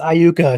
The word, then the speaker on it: Iuka: I guess it's Iuka, not Luca.